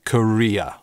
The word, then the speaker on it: Korea: Абсолютное большинство говорит Korea, с дифтонгом.